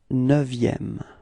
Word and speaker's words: neuvième: And then, last but not least, le neuvième. Repeat, le neuvième. Okay, be careful because this EU in neuvième is actually open. It's not E, but it's Okay, so it's neuvième.